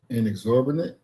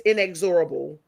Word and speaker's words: inexorable: Inexorbinate. No, in I think it's inexorable. Inexorable.